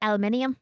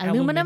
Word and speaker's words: aluminium: She kept trying to pronounce it properly, and it made it harder. Was it aluminium? No, it was not Aluminum?